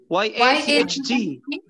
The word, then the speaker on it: yacht: So, the A is giving us a short O sound, right? Yeah. The C and H are not there. It's a silent letter.